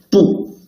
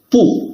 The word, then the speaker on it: 不: 不 when used alone or followed by a syllable in the first, second, or third tongue, its tongue doesn't change. 不吃不行不好不喝不能 See, 不吃吃 first tongue, 不行行 second tongue, 不好好 third tongue. So when we put it before first tongue, second, third tongue, we should read fourth tongue. 不 While when 不 is followed by a syllable in the fourth tongue, it will be changed into the second tongue.